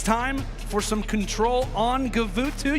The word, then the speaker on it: Guvutu: for some control on guvutu you can pronounce it however you'd like but we like to call it kuvutu for good reasons again